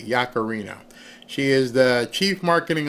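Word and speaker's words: Yaccarino: I I want to pronounce her name correctly. Yakarino.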